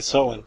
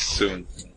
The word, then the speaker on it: Soen: We say so. So, so we heard some different pronunciations, but so is how we pronounce it anyway.